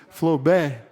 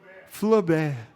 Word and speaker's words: Flaubert: Tem alguém aqui para me ajudar com a pronúncia? Flaubert. Como é, Derek? Flaubert.